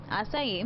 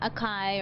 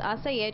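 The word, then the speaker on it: açaí: about acai so that's the proper way to pronounce it acai not Akai or Akai or whatever else people say so it's assaya just learned that too recently that was pronouncing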